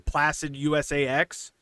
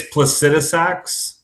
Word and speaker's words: Placidusax: And we've got Austin from Placid USAX. Is that that's I can't imagine there's any other way to pronounce that. No, you're good. It's placidaax. Okay. Okay. Yeah. I thought it was USAax.